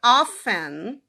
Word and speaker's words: often: O livro ele fala que o T nessa palavra, ele sempre foi silencioso, ou seja, sempre foi often, tá?